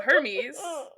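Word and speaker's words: Hermès: He's like mispronouncing his own name because it's spelled like Hermes the brand with an accent.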